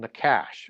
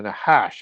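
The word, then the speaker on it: נחש: have the the original nakash or the nahash as it's pronounced in hebrew which is that serpent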